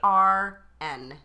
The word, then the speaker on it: Garn: Her name is Garn Stevens. Can we spell that, please? Garn. Oh. So it's like barn, What but with woman the G.